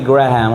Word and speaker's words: Graham: know One Day Billy Graham asawa they pronounce it grah graham graham crackers ba si Billy and